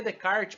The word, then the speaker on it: Descartes: o de card 20 escreve descartes mas a pronúncia de card é de kart pessoal ele vai ser